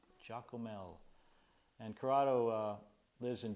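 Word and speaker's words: Giacomel: curado Jael and uh it's spelled g i a c o m e l Jael or chocolate milk Jael and curado uh lives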